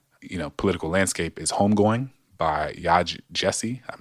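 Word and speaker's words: Yaa Gyasi: shaping our current, political landscape, is Homegoing by Yaj Jesse. I'm not sure, but it's spelled Yaa, and the last name is Gyasi.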